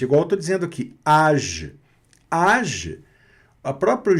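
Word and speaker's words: âge: Nesse caso aqui, age, deixa eu também, além de ressaltar que a vogal foi pronunciada normal, como no português, age não se pronuncia o E final, tá certo?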